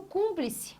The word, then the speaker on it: cúmplice: Aqui eu tenho, seguindo a mesma regra, hiato, aqui eu tenho cúmplice. Olha o item A. Cúmplice. Sílaba tônica, Rose. Aqui, ó, está aqui, a tonicidade está aqui. Última, penúltima, antepenúltima sílaba sendo acentuada.